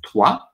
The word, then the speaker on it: toi: Also, the OI makes a wa sound. Like ever, if you think of the word toi, it's like when in